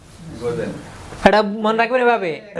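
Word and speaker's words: 午前: এই যে এখানে গোজ, এটার উচ্চারণ হচ্ছে জেন। গোজেন।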